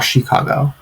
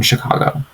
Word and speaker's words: Chicago: Je viens des États-Unis et j'habite à Chicago.